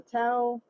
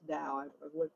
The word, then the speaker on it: Tao: But he's talking about how it says the Tao, or the Tao, excuse me, it's pronounced Tao.